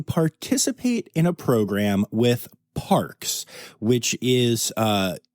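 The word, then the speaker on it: PaRx: in a program with Parks which is uh sounds like Parks but it is spelled PA then Capital RX like a prescription which is a natural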